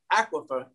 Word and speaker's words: aquifer: I can imagine that aquifer, am I pronouncing it correctly, aquifer? Aquifer, A-Q-U-I-F-E-R, aquifer. Aqua like water, aquifer. And fur. Yes, fur.